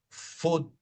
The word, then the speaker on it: foot: Por ejemplo, la mayoría de las palabras en inglés que tienen doble O se dice como una U, ¿verdad? Foot, foot, ok, doble O, U.